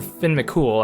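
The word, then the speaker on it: Fionn mac Cumhaill: So if you try to talk to Setanta with Finn in your party, Finn Cumhaill, or Finn McCool, I guess it's technically pronounced.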